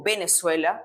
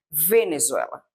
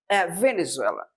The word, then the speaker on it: Venezuela: Yo no digo Venezuela, yo deboer Venezuela. Venezuela.